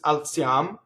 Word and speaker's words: alziam: For instance, alziam, which is actually short for alziamo, which actually had normal stress until they took the last syllable off.